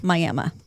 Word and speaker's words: Miami: I said it like how it's spelled. But if you're from Oklahoma, it is Miami, Oklahoma, which is pretty small.